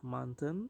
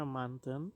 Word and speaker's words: mountain: bahasa Inggrisnya gunung adalah Manten Hai tulisannya mountain ya Hai tapi kita bacanya Manten Hai kau juga gunung